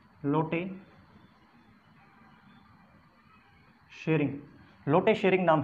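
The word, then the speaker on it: Tshering: तो जो स्पेलिंग्स होती हैं इंग्लिश में, उससे पता चलता है कि जो टी के साथ में कभी भी एस आता है तो टी जो है वो साइलेंट हो जाता है।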